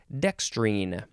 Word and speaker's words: dextrine: r i n or you could put an e at the end and that is when you would pronounce it dextrine this one is a